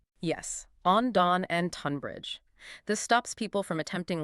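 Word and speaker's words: Tonbridge: If a place name begins with Lo N or T O N, that initial sound is often pronounced as a short sharp O sound like on.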